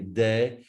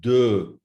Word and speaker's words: de: A lot of English speakers say de. No, it's not de. It's de. Look at my lips.